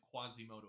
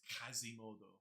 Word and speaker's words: Quasimodo: and he's great he has all the French pronunciations so you're not you're not learn you're not listening to the story of Quasimodo it's kazimodo in French it's derogatory and for uh and